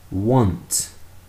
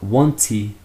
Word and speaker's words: want: Want, not wanty. Wanty. Want. Finish with a t sound.